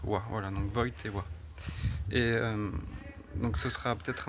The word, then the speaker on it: Wojtyła: son nom se prononce Wojtyła, parce que le J se prononce J en polonais, le Y comme un E accent aigu, et le L est barré.